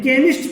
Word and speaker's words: chemist: केमिस्ट पढ़ते हैं, चेमिस्ट नहीं पढ़ते।